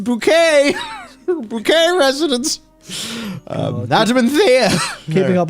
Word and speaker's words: Bucket: Her name is Hyacinth Bucket, but she pronounces it Hyacinth Bouquet.